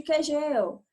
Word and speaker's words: Kegel: viu ou quer gelo os dois nomes as duas pronúncias estão corretas c se ouviram falar exercícios de kegel deixa de quem gel